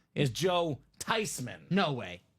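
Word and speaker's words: Joe Theismann: a lie it's not Joe thieman what it's not Joe thyman huh the proper pronunciation is Joe tyman no way tysman tysman it's a German name should be pronounced tysman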